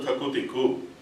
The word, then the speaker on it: takutiku: The word you hear is called takutiku. That's the sound you hear, but notationally how you've got to play is ta, ki, ta, ki.